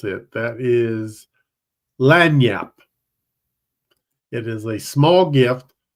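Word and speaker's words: lagniappe: of that one I can't remember how to pronounce it that is lanap it is a small gift or something extra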